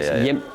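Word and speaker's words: hjem: It's H. But you don't pronounce the H, right? Yimp.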